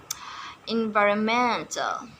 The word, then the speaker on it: environmental: for stress emphasis, namely environmental and experimental and instrumental. The stress is not on the third syllable but on the fourth syllable.